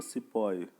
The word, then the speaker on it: सिपाही: This how the British pronounce the सिपाही, यानी कि हम हिंदी में बोलते हैं सिपाही, तो वो सिपाही को सिपोही बोलते हैं।